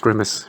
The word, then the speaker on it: grimace: So apparently it's pronounced grimace. Apparently that's the correct way to pronounce that word. I still say grimace because it's so ingrained in me that I can't get it right.